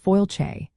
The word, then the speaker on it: Fáilte: That word is fáilte, which means welcome, and it is pronounced fáilte. The sound is much softer than you might initially think, with the stress falling clearly on the first syllable.